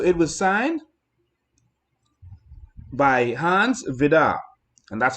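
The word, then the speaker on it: Vide: And so it was signed by Hans Vidar. And that's how you pronounce it. It's spelled V-I-D-E, but it's Hans Vidar.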